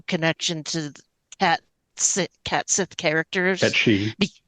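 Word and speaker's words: Cait Sith: Ketchi. Ketchi. Because of Final Fantasy VII, I know, I feel like understand. I feel like I have to say it right, even though it hurts my soul.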